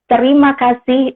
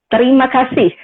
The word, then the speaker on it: terima kasih: But I want you say terima kasih. It means thank you. Oh, how do you say it again? Terima kasih.